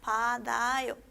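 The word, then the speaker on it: 받아요: Después tenemos, abajo tenemos otra, primera sílaba tenemos pat, segunda sílaba tenemos vocal A y tercera sílaba tenemos yo, ¿sí? Acá sería pa, tigut, se va a unir con la vocal A, sería padayo, ¿sí?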